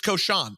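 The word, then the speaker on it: Cochon: It's Koshan. It's pronounced Koshan?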